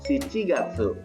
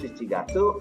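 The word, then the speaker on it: 七月: dari bulan Juni sampai bulan Agustus sedangkan kepala pengucapannya ada sebab ini rokugatsu shichigatsu hachigatsu Jun itu rokugatsu Juli itu si tidak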